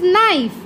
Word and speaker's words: knife: K is silent in this word. Good. That is knife. K N I F E. K is silent here.